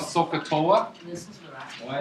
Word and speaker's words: SOHCAHTOA: Some Indian mathematician out there, right, from this tribe, well, it's like SOHCAHTOA. So how you pronounce it? So, S-O-H, so, ka, C-H, SOHCAHTOA.